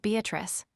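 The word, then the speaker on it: Beatrice: Note Beatatrice I use this word as it is pronounced in the Italian as consisting of four syllables of which the third is a long one revisited with joy.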